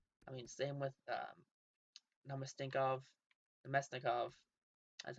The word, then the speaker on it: Namestnikov: I mean, same with Namestnikov, Namestnikov, that's how you say his name.